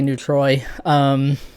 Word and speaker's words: neutrois: I don't pronounce it the French way, so I say neutrois.